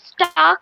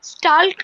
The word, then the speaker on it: stalk: Ma'am, you pronounced it as stark, no, ma'am. But we should pronounce it like stalk, no, ma'am. L is silent.